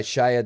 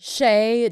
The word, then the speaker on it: Shay: And it's written by Shia Doswell. Is that how you say that? Shay Doswell. There's the A is silent at the end?